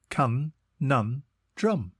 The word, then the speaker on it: conundrum: time today's word is conundrum it is pronounced can nun drum and is spelled c o n u n d r u m think Co nun and then drum before we get into